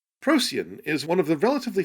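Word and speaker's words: Procyon: comments to the last video i have been pronouncing that name prakyon which is incorrect it was a lame attempt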